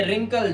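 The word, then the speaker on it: wrinkle: ये रिंकल झुर्रियां पड़ जाना। आर से पहले क्या है? डब्ल्यू साइलेंट है।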